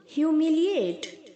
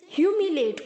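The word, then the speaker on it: humiliate: आगे जो ए है बहुत सारे बच्चे उसे प्रोनाउंस करते ही नहीं है हमिलिट बोलते हैं गलत है बच्चों हमिलिएट्स नहीं होता है हमिलिएट होता है ल आई के आगे जो ए है उसे प्रोनाउंस करना है ओके हमिलिएट हमिलिएटिड हमिलिएटिड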